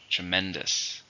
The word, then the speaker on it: tremendous: adjective how many syllables are in tremendous 3 stresses in a second tremendous the movie was a